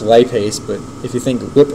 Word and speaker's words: lipase: So, it's pronounced lipase, but if you think lip ace, it's telling you it's an enzyme that breaks lipids.